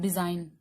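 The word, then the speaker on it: design: डिजाइन लिखती हूँ, डिजाइन, तो यहाँ पर जी आपका साइलेंट है, ठीक है।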